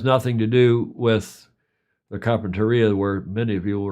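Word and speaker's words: Carpentaria: Only they say Carpinteria. And they spell it differently.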